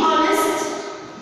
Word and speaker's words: honest: To be honest, the head is silent.